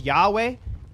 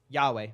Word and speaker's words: Yahweh: the Hebrew but yarth how do you say it whatever Yahweh we say Yahweh it's the English the English the English uh literation of it yo W's